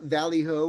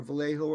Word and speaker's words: Vallejo: near the napa valley the valley hoe or vallejo of late joe however you want to pronounce it right um so it